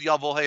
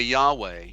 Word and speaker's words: Yahweh: Yahweh is, they say Yahweh. It's Y-A-H-W-E-H. Yeah, Y-A-H-W-E-H. See, nothing is spelled correctly, so it's hard to follow when phonetically nothing fits.